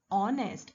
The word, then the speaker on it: honest: but the sound is honest h is silent over here that is why since